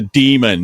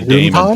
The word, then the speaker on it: daemon: It's a demon, not a daemon, Paul.